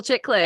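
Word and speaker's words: Chiklis: and I want to say I'm probably gonna mispronounce his name I want to say Michael chicklas it is Michael chicklas a oh my God we were so close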